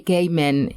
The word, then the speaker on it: Kamen: Henry Buenos días y gracias por pronunciar mi apellido bien lo digo porque normalmente dicen ya pero Carmen suena como a japonés gracias no ustedes británico